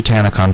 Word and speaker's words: Tanacon: that's Anna yeah Graham can't anagram Khan actually tannic on folks it's actually nothing now but that's a